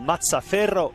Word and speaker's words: Mazzaferro: Mazzaferro, or Mazzaferro if you want to pronounce it correctly, the Warriors goalkeeper.